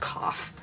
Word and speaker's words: coif: So of course we're doing a cap C-O-I-F. I think it's pronounced coif. I've also heard it pronounced cough. Which I guess could also be right.